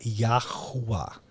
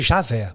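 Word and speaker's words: יהוה: em hebraico Então você o nome dele seria yahua isso Yah é a pronúncia de yhw yahua yahua então yhw que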